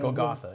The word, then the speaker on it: Golgotha: But, then you started another game, Golgotha, is that how you pronounce it? Yeah. Golgotha, yeah.